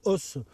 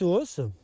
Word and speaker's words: hausse: Et par-dessus, par-dessus, je vais mettre ce qu'on appelle une os. Os ça s'écrit hau 2S E. Ça veut dire en fait ce qui est en haut, la partie haute. Et donc cette hausse, voilà, contient des cadres de cire, alors plus